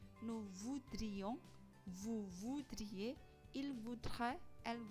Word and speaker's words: voudrait: Je voudrais, tu voudrais, il voudrait, elle voudrait, nous voudrions, vous voudriez, il voudrait, elle voudrait. Je, tu, il, elle, baik jamak atau tunggal dibacanya sama, voudrait, voudrait, voudrait, voudrait.